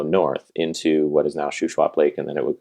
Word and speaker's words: Shuswap: Shuswap. Shuswap.